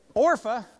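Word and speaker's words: Orpah: and uh um Oprah orpa do you know Oprah's name was supposed to be an orpa but they didn't know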